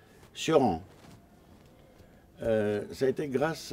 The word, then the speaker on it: Cioran: j'ai rencontré personnellement Émile Cioran, c'est comme ça qu'on le prononce en roumain, Cioran, ça a été grâce